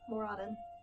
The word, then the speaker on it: Moradin: I'm at a temple of I always pronounce it wrong. Moradin.